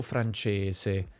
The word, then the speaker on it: francese: Guarda che la pronuncia neutra tradizionale fa delle distinzioni. S in alcune parole e S in altre. Inglese ma francese, cosa ma rosa.